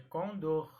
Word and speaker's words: condor: Então, se pronuncia com dor e não condor. Então, a pronúncia correta é condor.